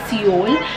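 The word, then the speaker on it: Sioul: It is pronounced as Seoul. It is Seoul the Pet Club.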